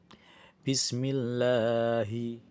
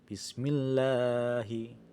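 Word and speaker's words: بسم الله: Di dalam lafaz Allah ini terdapat fathah berdiri ee yang itu termasuk ke dalam hukum bacaan mad thai yang cara membacanya dipanjangkan ee dua harakat. Bismillahi. Bismillahi.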